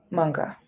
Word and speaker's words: manga: Manga. Hard G.